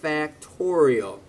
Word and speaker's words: factorial: So we could write this as 3 factorial. That is 3 times 2 times 1. 3 exclamation point. That's the symbol of an exclamation point, and that is pronounced, not exclamation point, but factorial.